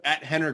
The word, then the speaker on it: Rener: on Instagram Twitter Facebook hener Gracie spelled with an R pronounced with an h and uh check out